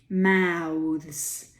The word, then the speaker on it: mouths: tricky but unsurprising but mouths there's something interesting going on there the th becomes voiced slightly voiced when you make it a plural now with this and